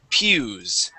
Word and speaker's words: pew: Okay, those are called pews. Okay, so that word P-E-W is pronounced pew. Pew. There you go, just like Pew.